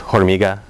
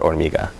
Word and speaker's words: hormiga: So, for instance, the word for ant is hormiga, not hormiga.